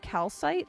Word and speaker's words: Calite: Calite. It's pronounced like calsite, like the mineral.